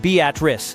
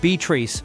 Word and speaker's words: Beatrice: Beatatric, Nebraska, and yes, it's pronounced Beatatric, not Beatrice, unless you want side eye from the librarian, has been famous for its modern-day homestead act for years.